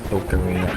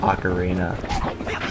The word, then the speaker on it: ocarina: over at Nimbuzz, especially Ocarina. Uh, but for the record, all the commercials recently have it pronounced like Ocarina. It's not Ocarina. It's Ocarina.